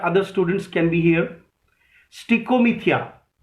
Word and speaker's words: stichomythia: स्टिकोमीथिया लिखिए, STICHOMYTHIA। If you want me to repeat the spelling, you may ask me again. Keep sharing the video. Keep sharing the video so that other students can be here. Stichomythia.